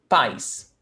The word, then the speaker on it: país: And it's only one syllable, país. And here, país, a vogal, e vogal, because it's a sharp sound, país. So we cannot have two sounds, duas vogais in the same syllable.